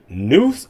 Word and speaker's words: Neuse: upsetting story notice the name of the river noose river is pronounced noose river it's not spelled like the